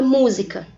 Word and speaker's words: música: Exemplo, a palavra sapato. Sapato. Observe que o pá é a sílaba mais forte, mas eu não tenho nenhum acento gráfico indicando a sílaba mais forte.